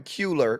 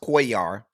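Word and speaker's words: Cuellar: Henry Quayar and um I heard somebody call him Culer because his name is C u E L L A R but it's pronounced quar.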